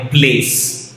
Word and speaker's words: Playace: भले इसका आप अगर इसकी स्पेलिंग देखोगे PLAYACE, राइट, बट इसको प्रोनाउंस एकदम सिंपल तरीके से करना है, प्लेस, राइट।